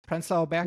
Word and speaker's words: Prenzlauer Berg: Prenzlauer Berg is like the German pronunciation.